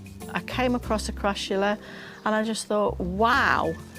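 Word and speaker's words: Crassula: How do you pronounce it? Crashula. You sure? Looks like a crula to me. Oh, crula. Well, that might be just northern dialect, right?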